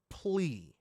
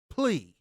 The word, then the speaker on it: PLE: Plea. You're saying it wrong. It's just PLE.